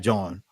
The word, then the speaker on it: jawn: I think it's spelled John. It's spelled Jawn. John. They'll use that as a noun, a verb, an adjective. John.